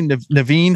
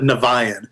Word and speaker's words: Niviane: I pronounce that fancy Naveen how is it really pronounced well that's the whole thing right we technically the band mispronounces the name okay we call it navion and that's because the